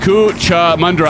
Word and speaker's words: Cootamundra: Big Al says, send the next airport is Cootamundra. Pronounced Cootamundra. I almost had it.